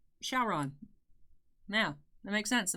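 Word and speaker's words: Syaoran: And then it turns it's just a weird sounding Sharon. But Showron.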